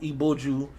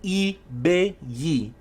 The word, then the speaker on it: Ibeyi: This same motherfucker was in that space before I managed to get up, was talking about Iboju, Ibaji, Ibeju. It's Ibeyi, Ibeyi, Ibeji, Himawa, Los Gemelos, the twins. Ibeyi.